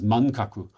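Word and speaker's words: 漫画: appears first um but manga at that point was not um pronounced as manga it was pronounced as mankaku so the the title of the book in Japanese is mangaku.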